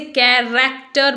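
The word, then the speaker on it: character: कैरेक्टर, बहुत से लोग इसे कैरेक्टर बोलते हैं, तो इसे कैरेक्टर नहीं बोलेंगे, इट इज कैरेक्टर। Are last में साइलेंट रहेगा, ओके।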